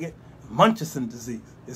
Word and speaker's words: Munchausen: Munchausen? What do I say? How do I say it? Munchausen.